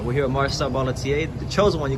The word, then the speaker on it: Barlatier: I'm here with Marcel Barlatier, right?